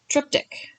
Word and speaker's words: triptych: i was for sure that i was not pronouncing that correctly i made google tell me what it was called and it's triptych that's how google said it so if i